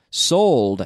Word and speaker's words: sold: sell yesterday I sold sold and I need to hear the D at the end sold ok so be careful